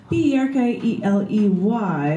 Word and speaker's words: Berkeley: That's B-E-R-K-E-L-E-Y, like you're barking, Berkeley, you're barking up the wrong tree.